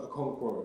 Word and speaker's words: Okonkwo: It's um pronounced a conc.